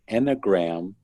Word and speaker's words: Enneagram: And this list is called and I'm going to really mispronounce it, but it's called the Enneagram Defect List of Character.